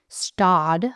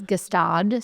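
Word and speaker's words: Gstaad: It's kind of like when I was in Stad, apparently. When I thought it was Gestad. So yeah. How do you spell it? It's Gstad, I think. Oh, okay. It's not Gestad.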